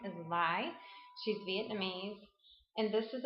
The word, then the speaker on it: Lai: The pronunciation for her last name is Lai.